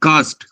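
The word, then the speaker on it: Kast: জোস অ্যান্টোনিও, ওটা কি কস্ট না কাস্ট? কাস্ট, ওটা হচ্ছে মানে ওদের ওই রকম ওই উচ্চারণ তো, হালকা স্প্যানিশের টাচ আছে তো, তোমার হচ্ছে ওদের উচ্চারণটা হচ্ছে কাস্ট রিস্ট।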